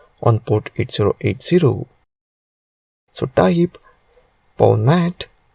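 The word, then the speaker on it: pwnat: PWN pronounced as ponet is a tool that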